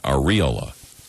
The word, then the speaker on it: areola: Apparently, it's supposed to be areola Areola? What? with the accent on the re.